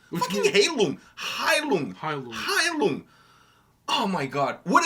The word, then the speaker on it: Heilung: Even the Heilung is Heilung, not Heilung.